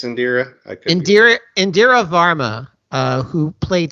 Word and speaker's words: Indira: name uh in India in i-n-d-i-r-a in dire I Indira I think it's Indira Indira Varma uh who